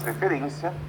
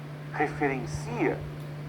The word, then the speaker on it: referência: Hoje teremos aula de língua portuguesa, que faz referência à habilidade 06.